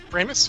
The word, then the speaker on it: Pramas: I say that right prus yes rhymes with rhymes with famous rhymes with famous for